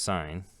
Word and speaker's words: sin: is the sign ratio of which short is spelled sin but this is pronounced sign this yeah and then